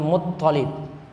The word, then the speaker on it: Muttalib: Muttalib di sini harusnya T-nya yang 2, L-nya 1. Situ salah eja. Abdul Muttalib. Jadi to yang ditasydid, lamnya tidak ditasydid.